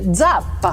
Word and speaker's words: Zappa: Et je veux juste terminer en disant, en fait, la vraie façon de prononcer ton nom de famille, si on le prononce à l'italienne, c'est Zappa.